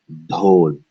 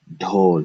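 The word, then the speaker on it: ढोल: First syllable, ho. Remember here we should feel air. Do. Retroflex. Do. All right. Second is l. But because we get rid of the at the end, we combine it into one syllable and we have dhol. Dhol. You should always feel air on the D.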